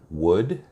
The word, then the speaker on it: would: your comments down below I never understood letters that weren't pronounced like the letter L in the word would could should and when you talk